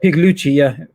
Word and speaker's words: Pigliucci: movements that's been exposed by so many, like Pigliucci. How do you pronounce his name? Pigliucci, is it? Yeah, Pigliucci, Pigliucci, Massimo Pigliucci.